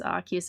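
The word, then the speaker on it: Arceus: I have an official book from Early Gen 9 that says Archus is the correct pronunciation. Yeah, it really doesn't help that there's multiple like canon pronunciations to it.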